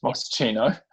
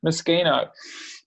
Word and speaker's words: Moschino: makes um the designer of miss gina miss moschino that's not how you say it moschino i'm sorry they're so bugging me you look